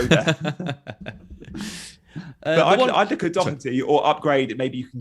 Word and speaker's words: Doherty: It's a funny one because I think it's like Doh. It's like Doh. It's not a hard C. It's like a Doh. Doherty.